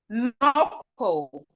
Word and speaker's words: knuckle: beginning of a word, whenever we have K and N at the beginning of a word, the K is silent.